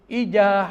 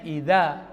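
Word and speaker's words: إذا: Ija hasad. Ija harusnya idza hasad.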